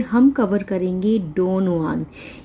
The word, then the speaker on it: Don Juan: आज की इस वीडियो में हम कवर करेंगे डॉन जुआन। इसकी जो प्रोनाउंसिएशन है डॉन जुआन है, चाहे इसका जो फर्स्ट लेटर है वो जे है, लेकिन जो इसकी प्रोनाउंसिएशन है दैट इज़ जुआन, डॉन जुआन, जो कि लिखी है लॉर्ड बायरन ने।